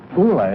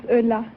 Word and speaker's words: Ulla: Ulla, is that right? Is that how you pronounce it? No, my name is Ulla. Ulla, eh? Yeah. Yeah, Ulla. French have a word for it. Ooh la la.